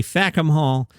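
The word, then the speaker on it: Fackham Hall: Jimmy Carr one of my faves has written his debut screenplay it's called fakum Hall f-a-c-k-h-a-m make sure you pronounce it correctly vacuum Hall it's a Downton Abbey period spoof in the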